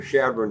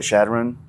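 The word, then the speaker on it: Chadron: And uh then we would go uh to uh right below uh to Shadron, Nebraska.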